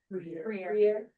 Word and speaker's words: Bruyere: Gabe, can someone tell me how to pronounce his last name? Briere.